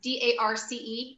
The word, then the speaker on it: Darce: First, I don't know how you pronounce it. It's D-A-R-C-E, choke.